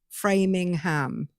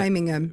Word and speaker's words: Framingham: People do actually pronounce the ham, though, don't they? Like Framingham. No, well, other people do, but here here's the like I don't want to. Yeah, Framingham.